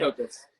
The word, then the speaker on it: Copas: Copas.